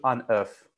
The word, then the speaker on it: œuf: So we don't pronounce the FS for des œufs, but you do un œuf.